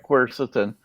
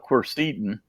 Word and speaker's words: quercetin: say it I I've heard that you actually pronounced the right quercetin and I used to call it cursed Eden but nobody ever says that you just order